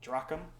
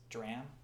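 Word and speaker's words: drachm: silver uh dram I recently learned that the pronunciation is not dracum as I thought or Tetra durakum it's dram uh the CH is silent the auger side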